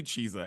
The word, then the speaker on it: Chizza: not pizza wa hold on it's it's definitely chesa it's not cheet because cheet makes it sound